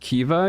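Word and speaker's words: Caoimhe: It is Irish. It's pronounced Kiva.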